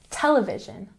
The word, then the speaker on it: television: For example, television has the emphasis on the first syllable. Television, television.